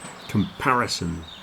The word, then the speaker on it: comparison: the word comparison there comparison four syllables the second syllable is the big one comparison spices this is